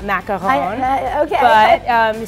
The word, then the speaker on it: macaron: Or the coconut macaroon at Passover. Yeah. Right? Sometimes dipped in chocolate. Totally different. Okay. I don't speak French. I'm from Jersey, so I say macaroon, not macaron.